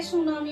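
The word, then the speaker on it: tsunami: Irregular routine, जैसे सुनामी comes in coastal regions, तो guys यहाँ पर देख सकते हैं सुनामी में टी साइलेंट है।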